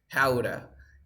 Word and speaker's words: how to: Guys, remember, in English, when you have how to, you always like 97% you say howda, howda, howda, the workshop.